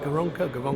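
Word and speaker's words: Gervonta: You've got Liam Walsh, who's the mandatory challenger to, got to pronounce this right, Garonka Davis. Is it Garonka?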